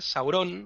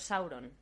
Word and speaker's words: Sauron: pero no se debe el hecho de que no existan palabras agudas ya nos indica cómo hay que pronunciar las palabras que tienen dos sílabas siempre en la primera son todas llanas es que no sería